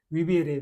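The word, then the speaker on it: vivere: ने देखा यहां पर वी ई को बोलते हैं वे, और आर ई को बोलते हैं रे, विवेरे।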